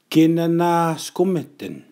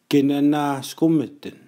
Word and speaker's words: kinanaskumitin: Which says, which is, kinanaskumitin. Kinanaskumitin. This is a dialect neutral. You can say it in TH, Y, or N dialect.